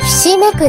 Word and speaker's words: 犇く: いません 7 正解はひしめくです牛が 3 つでひしめくです